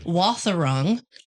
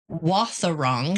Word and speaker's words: Wathaurong: Wathaurong. Wathaurong. Can you spell it for me, just so I can w a t h Okay.